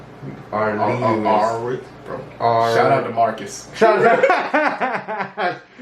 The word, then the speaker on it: Aurelius: How do you pronounce that last name? Aurelius.